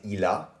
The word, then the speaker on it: il a: Then we have, if you want to say he has, you would say il a, which is ILA.